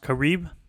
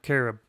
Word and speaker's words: Carib: on Saint Kitts and yes it's pronounced Caribe not carob Cheers Bar four beers